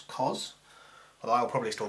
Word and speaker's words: cos: There's another function called the cosine, and its symbol is cos, which we pronounce cos, although I'll probably still call it cosine to remind you it's got a proper name.